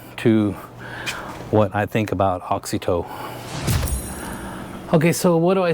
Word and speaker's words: AUXITO: Or, and they came back and said that it sounds like AUXITO.